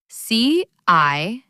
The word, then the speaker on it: city: Think about the word city. C-I-T-Y. They say city.